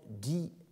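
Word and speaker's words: desense: d'allemand dans son anglais, appelle die-sense, qui n'est pas la décence, n'est-ce pas, puisque ça s'écrit D-E-S-E-N-S-E, et il faut entendre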